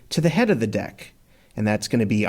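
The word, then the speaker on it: deque: So deck is short for doubleended Q. And as you're hearing me pronounce it, it's normally pronounced deck.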